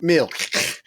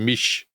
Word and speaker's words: Milch: the point at which he falls out with Milk. However we say it. We never did resolve it. Well, actually, I've just been listening to you reading Battle of Britain, and you go, Mish.